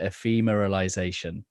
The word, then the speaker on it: ephemeralization: was this one phrase, I'm probably going to pronounce it wrong, but ephemeralization. Does that uh-huh. sound familiar? Did I Yeah, pronounce that yeah, right? that's very good.